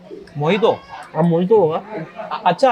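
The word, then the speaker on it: mojito: पता नहीं, यहाँ पे मोहितो। अब मोहितो होगा। अच्छा, अगर ये है मोहितो तो मोजितो क्यों लिखते हैं ये लोग? जे साइलेंट है बट इट्स all about अनंसिएशन, pronunciation भी नहीं, अनंसिएशन।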